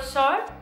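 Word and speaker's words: SOAR: Yo utilizo el perfilador SOR, que se escribe S-O-A-R, para los que no entendamos porque es un poco raro.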